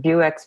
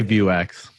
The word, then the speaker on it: Vuex: And then just like, we do use Vuex. Is it Vuex? I never know how to pronounce it. Vuex, Vuex. Everybody. I say Vuex. Okay. I think most people are saying Vuex, but yeah, both are acceptable.